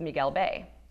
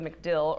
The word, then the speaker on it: Miguel Bay: original spelling or pronunciation some of you may have heard of macdill or mcgill bay located along the southern shore of terra ceia old maps even have an incorrect place name inscribed on them however this was merely the mispronunciation or anglicized version of Miguel Bay named after Miguel Guerrero